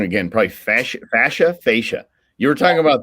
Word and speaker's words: fascia: subject first of all tell me how to pronounce it properly and then tell me yeah so it's fascia fascia thank you yeah the